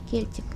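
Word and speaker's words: Celtic: правда или нет кельтик кельтик Это правильно произносится В общем вот это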